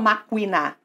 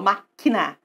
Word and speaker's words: máquina: guerra máquina aqui ó eu não falo macuina eu falo máquina tá o ovo não